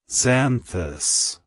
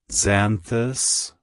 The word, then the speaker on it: Xanthus: mythology it's pronounced as zanthus zanthus zanthus to pronounce it correctly EMP emphasize the Zen and pronounce the th as in this the buz should be